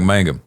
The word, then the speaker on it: Mangum: You just say it like Mangum. Mangum. There it is. Hey, Mangum. I guess you got to think of King of the Hill.